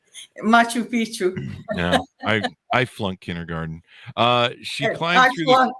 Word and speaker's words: Machu Picchu: should the ruins of Macho Pico in Peru the Mayans in Mexico I mispronounced that didn't I that's why you're laughing Machu Picchu no I've flown kindergarten